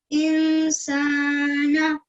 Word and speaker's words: إنسان: Once more, make sure you focus here on the guna sound that you'll make. Go again. خلق الإنسان من علق. Much, much better. So, خلق الإنسان. إنسان. Good. You're holding there for 2 seconds. إنسان. إنسان. Good. So you make the guna sound there, the sound which comes from your nasal pipe.